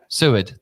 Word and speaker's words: Seward: People get my surname wrong all the time. Seward, thank you.